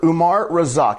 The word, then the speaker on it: Umar Razzaq: Umar Rosak. Am I pronouncing that correctly, Doc?